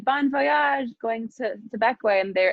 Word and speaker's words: Bequia: So how would you describe Bequia and the difference between, one, if I'm pronouncing it right, and two, the difference between life on the island versus life on the mainland?